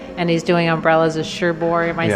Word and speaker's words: Cherbourg: does a QA and he's doing umbrellas of Cherbourg am I saying it correctly yes yeah if